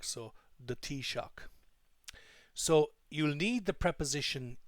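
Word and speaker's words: Taoiseach: from the Irish language it's pronounced T like cup of tea and shock like electrical shock so the tea shock so you'll need the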